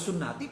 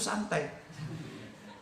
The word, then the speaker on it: sunnati: Jelas tulisannya an-nikahu sunnati, Pak Saidun bacanya an-nikahu santai. Ini kan salah itu. Nah itu gue padahal udah guru bahasa Arab loh ya. An-nikahu sunnati dibaca karo Pak Saidun jadi apa? An-nikahu santai.